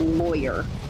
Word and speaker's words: lawyer: How do you pronounce the first syllable of lawyer? Rhymes with boy, rhymes with blah.